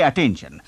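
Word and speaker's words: attention: यहां main point है हमारे पास है डबल टी पर हम बोलेंगे नहीं अटेंशन बोलेंगे अटेंशन सुनने में हम सुनते हैं सिर्फ एक टी सिर्फ एक ट साउंड है यानी कि वन फिर एन साउंड आपको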